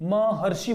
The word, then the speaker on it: महर्षि: महर्षि बोलेंगे इसको, इसका जो उच्चारण करेंगे हम महर्षि करेंगे, ना कि महर्षि करेंगे, ठीक है।